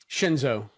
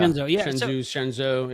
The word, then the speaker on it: Shenzhou: Shenzo, yeah. Shenzhou, yeah.